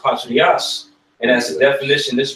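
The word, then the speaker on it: πατριά: With that word, when you go into that word kindred within that certain scripture, that word is pronounced patrias.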